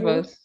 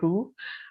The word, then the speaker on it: rooibos: rooibos. Rooibos. I think that's how they say it. I Rooibos. know it has double. Also, Uh, you're inclined to say roux, but I think it's rooibos.